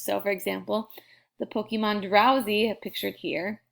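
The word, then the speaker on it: Drowzee: So for example, the Pokemon Drowsy, pictured here, is spelt like this but pronounced drowsy, means sleepy.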